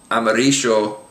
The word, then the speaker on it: amarillo: So many times you'll hear, including from me, these words pronounced millón, amarillo, and llama. So you'll get that especially in places like Argentina, where it's actually almost pronounced like an SH sound.